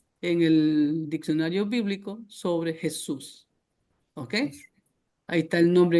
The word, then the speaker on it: Jesús: Así que Jesús es desde México hasta la Patagonia. Acá en Gringolandia, en el país de las hamburguesas, se dice Jesus, ¿ok? Y se escribe igual, pero se pronuncia Jesus, ¿sí ven?